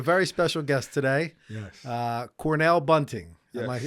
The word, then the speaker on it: Cornell Bunting: Cornell Bunting. Yes. Am I pronouncing that correct?